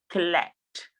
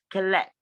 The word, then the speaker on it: collect: have it in collect you see the way i pronounce the word collect the stress is on let collect and then we have